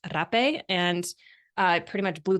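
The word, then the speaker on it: rapé: rape for the first time Americans call it happy but technically pronounced rape and I pretty much blew the lid off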